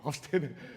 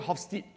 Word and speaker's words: Hofstede: I want to pronounce it correctly. It's a Dutch social psychologist, right? Yeah. Hofstede. Hofstede. Okay, thank you. Hofstede. Now, for years, I call it Hofstede, which is like wrong.